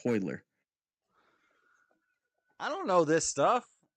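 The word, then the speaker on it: Royler: it was spoiler Gracie it's r-o-y-l-e-r but it's pronounced hoyler I don't know this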